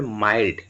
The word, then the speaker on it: mild: এই যেমন MIL কে মিল্ক হয়, হ্যাঁ, তো সেটা মনে করে যদি তোমরা বলো যে MILD মিল্ড হবে, তাহলে কিন্তু ভুল উচ্চারণ হবে। ঠিক আছে, এটা উচ্চারণ হবে মাইল্ড।